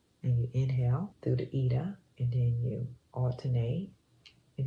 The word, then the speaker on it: Ida: It's I-D-A. It's pronounced Ida.